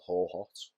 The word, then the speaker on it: Hohhot: So I flew over to China, but the part of China was called Ho-Hot. So it's spelled Hohhot.